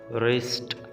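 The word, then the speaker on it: wrist: की कलाई में Raees रिस्ट इस में डब्लू साइलेंट है आपने डब्लू को नहीं पढ़ना आपने आर से ही स्टार्ट कर देंगे ठीक है रेस रेस और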